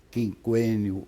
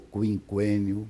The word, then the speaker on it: quinquênio: Quinquênio ou quinquênio, pode dizer das duas maneiras.